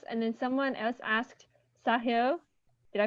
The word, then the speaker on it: Sahil: a double s and then someone else asked sahio did i pronounce that right yeah i do test for